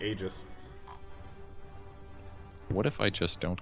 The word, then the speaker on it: Aegis: his method I mean it's definitely aegis what if I just